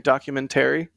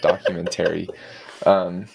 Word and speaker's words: documentary: Trevor guff for saying documentary. He put the emphasis on the wrong syllable. I did. Documentary.